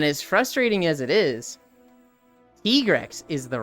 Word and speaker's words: Tigrex: Do you say Tigrex or do you say Tigrex? Because there's a right way to say it and there's a wrong way to say it. And as frustrating as it is, Tigrex is the right way to say it.